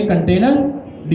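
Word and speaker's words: containerd: इसकी स्पेलिंग यही है। आपने लिखा कंटेनर और आखरी में लगा दिया डी। इसको हम कहेंगे कंटेनर डी।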